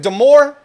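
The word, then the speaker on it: Dior: ] it is yeah how do you say it is it deore de deor yes all right thank youcome so what she said deor I had a phone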